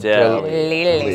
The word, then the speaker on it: Delia: - But it's pronounced- - It's Pronounced, De-Lilly.